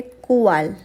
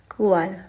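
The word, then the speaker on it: cuál: विच को हम बोलेंगे कुवाल, कुवाल, कुवाल।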